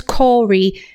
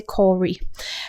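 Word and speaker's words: Kore: role also known as Corey spelled k o r e so someone else may pronounce that differently but I say Cory and that means young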